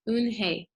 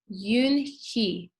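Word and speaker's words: Unhei: turned to joey she nodded slowly yes it's pronounced un hey and it means grace mr kim added yoon he joey said slowly and this time perfectly it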